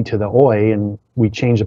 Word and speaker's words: Oyez: And literally opened a dictionary and pointed to the first word she saw, which was um, oi, which is spelled o y e z.